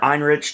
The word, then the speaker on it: Ehrenreich: Alden Ehrenreich. Or Einrich, depending on how you want to pronounce it.